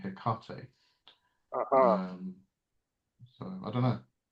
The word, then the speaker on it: Hecate: But yeah, it's Hecate, Hecate. Yes, Hecate. They don't Yes, pronounce the H in ancient Greek.